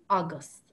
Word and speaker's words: agus: And if you want to say and, the word is august, august.